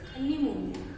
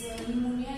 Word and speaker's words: pneumonia: Then the next disease is pneumonia. Here infection of this pneumonia is due to the bacteria. This pneumonia disease is the bacterial disease. Spelling is very important. This P is silent.